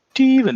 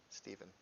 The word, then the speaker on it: Stephen: just smaller too then stepen is my name Steven it's just spelled like stepen it's Stephen I will stab you